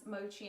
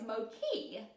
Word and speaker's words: mochi: were like no it's Moki and this says Mochi is often mispronounced as Moki in English-speaking countries and then it says